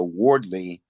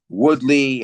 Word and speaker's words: Wardley: you know, I do apologize for the the mispronunciations of Fabio Wardley and Joseph Parker. I keep saying Woodley and and Josh.